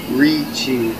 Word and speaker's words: Ricci: really quick you said richie yes not richie distinguished get it right yeah what okay it's italian yes okay okay yeah it's italian so that's uh that's how we how we pronounce it right all right all